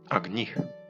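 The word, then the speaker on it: अग्निः: його звати називався словом агніх хоча в нас його називають Агні насправді в санскриті наголос падав на і агніх але нам цікаво як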